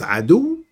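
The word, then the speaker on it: عدو: veut dire c'estut dire on le prononce Adou c'est l'ennemi et donne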